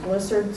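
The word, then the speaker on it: Blissad: My husband says it's pronounced Blissard, so he's had it longer than I have.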